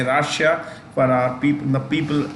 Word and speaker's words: Russia: you could learn is Rasha this is pronounced as rash and a that's the right pronunciation but we should say Russia for our people the